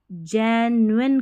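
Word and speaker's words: genuine: the festival also रिमिंड्स नहीं बोलना है इसको, रिमाइंड्स, यानी कि याद दिलाता है अस, हमें, दैट, अब इसको जेन्युइन करके पढ़े, जेन्युइन, जेन्युइन यानी कि सच्चा, ठीक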